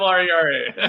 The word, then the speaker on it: Herrera: LinkedIn, Herrera, Herrera. You roll your R's so beautifully. You should say that again with a little roll. Herrera, Herrera.